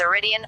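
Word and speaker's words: Eridian: The Greek and Latin oblique stem of the name is arid, as can be seen in Italian eride and Russian arida arida, so the adjective in English is iridian, arden. Due to uncertainty over whether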